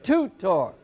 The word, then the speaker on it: Tudor: toot and of course in the word Tudor we pronounce it to tour the accent on the first syllable so this becomes the